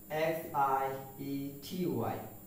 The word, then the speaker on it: anxiety: The second one is ANXIETY, anxiety. But the fact is we commonly pronounced it as anxiety. But the pronunciation is anxiety. That means we have to pronounce this word as anxiety, not anxiety.